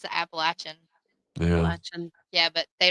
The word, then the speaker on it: Appalachian: to say this being from there, but the Appalachians. Hey, they don't call it that. you'll be shunned. You are shunned. Yeah, I'll never be allowed back in Virginia again Really? because it's the Appalachian.